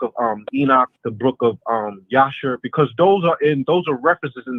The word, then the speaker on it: Jasher: Well, it's spelled Jasher, but I pronounce it as Yasher because that's the correct way to say it.